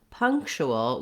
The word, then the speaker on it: punctual: So in punctual, we have the stress in the first syllable, punk, and that means that that's going to have a longer duration than the other syllables and it'll have a clear vowel.